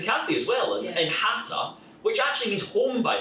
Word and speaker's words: Hata: So it's pronounced exactly the same, but when it comes to spelling, it's H with a C.